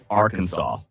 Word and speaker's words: Arkansas: An 1881 state law declares the only acceptable pronunciation is Arkansas.